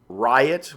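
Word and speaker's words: RYOT: group they call themselves Riot which is R yo T pronounced like there's a riot and their company was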